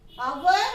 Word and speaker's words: hour: It will be noticed that the words our, honest and had begin with a vowel sound. As the initial consonant H is not pronounced.